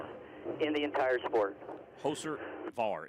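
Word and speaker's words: Hocevar: Let's listen to how his name's pronounced. Carson Hoser bar is the Hoser biggest dumbass Var. in the entire sport. Hoser Var. It's hyphenated. Hoser Var.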